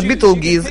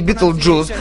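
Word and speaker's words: Betelgeuse: Она называется Beetlejuice или Beetlejuice. Произносить можно по-разному, я называю ее Beetlejuice.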